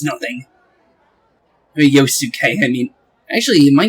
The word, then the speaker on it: Yosuke: Yosuke?